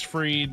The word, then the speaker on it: Fried: Max Fried, he's getting Max Fried. Because Fried That's how is it's spelled like fried, so you think it would be fried.